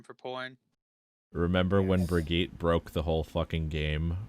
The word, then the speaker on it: Brigitte: I thought her But- name was Bridget. Brigitte is actually the proper like pronunciation for it apparently, How but like fucking weird.